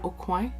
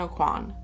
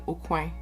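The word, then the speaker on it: Aucoin: if is it kevin o'coin it must be i'm going to say it how everyone says that kevin o'quan kevin kwan it sounds a lot better than okuy like in french it's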